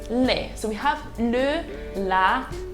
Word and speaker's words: les: e is pronounced as le l-a is pronounced as la l with an apostrophe in french you call it el apostroph and we have l-e-s pronounced as le so we have le